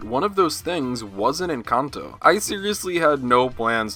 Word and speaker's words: Encanto: Encanto. Stress on the second syllable. Encanto. In Spanish and also in English. Encanto.